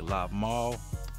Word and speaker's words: LvMao: If you want to look at Loken, you want to go with like Lob Mall. That's how you pronounce his name.